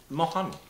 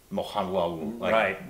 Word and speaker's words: Mohanlal: Mohanlal, but it's pronounced so quickly by most Mohanlal. People. It sounds like Mohanlal. So we say Mohanlal, but it's, I think I hear it's Mohanlal. Mohanlal.